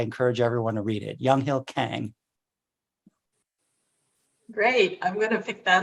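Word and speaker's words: Younghill Kang: Young Hill Peng Kang I guess he would pronounce it young Hill Kang because he completely Americanized he came over to the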